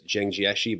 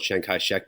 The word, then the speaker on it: Jiang Jieshi: The Regents now refers to him as Jiang Jieshi, but if you go back to old questions, he was called Chiang Kai-shek because they mispronounced his name when they translated it into English.